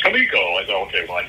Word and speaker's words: Comico: which most people look at and they say Comico which I did too when I walked in the door and got corrected no it's pronounced kamiko I thought okay well I never would have